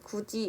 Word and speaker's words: 굳이: 세 번째 예시인 구지 역시 구대에 있는 디귿 받침이 뒤에 오는 이를 만나서 지읒으로 발음이 나고 있습니다.